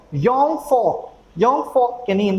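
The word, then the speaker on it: Jungvolk: जे को German language में पढ़ा जाता है यॉट, और जो वी है उसको पढ़ा जाता है फाव। तो इस वजह से इसका जो प्रोनाउंसिएशन है वो हम लोग क्या पढ़ रहे हैं? दैट इज जुंग वोक नहीं पढ़ेंगे, इसका प्रोनाउंसिएशन क्या हो जाएगा? योंग फोक।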